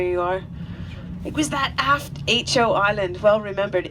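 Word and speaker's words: Aitcho: are it was that aft ho Island well remembered ho spelled with an AI t c h but phonetically ho o for hydrographic office so it was British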